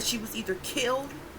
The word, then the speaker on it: Khil: is kiel it's pronounced kill it's spelled k-h-i-n okay but it sounds like kill k-i-l-l again which language people